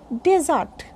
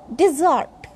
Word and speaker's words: desert: But when I'm talking about Thar or any sandy land, then it is called desert. Desert. Again, ra will be pronounced. Z, R, and ta.